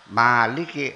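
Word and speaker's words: مَالِكِ: lam dan Kaf Nah kalau yang dibaca panjang Maliki harakat nya berdiri jadi bacanya Maliki sebagai pengganti Alif n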